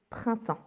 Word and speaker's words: printemps: Et non, on n'entend pas le P et on n'entend pas le S, printemps.